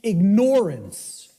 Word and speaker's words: ignorance: the way it's pronounced I tell people start pronouncing it ignorance ignorance then people will hear the word ignore in it and and the connotation becomes clear it means you're ignoring it ignorance okay that's how